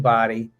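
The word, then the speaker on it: Bodie: them a body Island it's spelled like bod um but it sounds like body and that's sort of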